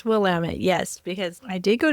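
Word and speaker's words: Willamette: In case people are wondering, it's not Willtt for listeners even though it looks like it. The someone from the region once told me this years ago and it's always stuck with me. It rhymes with damn it. So will Damit. So I always think of that when I look at it because I want to say Will, but it's Wamtt. It's Wamut.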